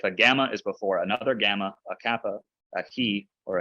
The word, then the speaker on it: gamma: Gamma rules, let's talk about the gamma. So again, don't pronounce it like a J. Don't go jamma. It's kind of like a throaty G sound.